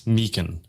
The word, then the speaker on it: Meechan: So it's a and it's Meechan, right?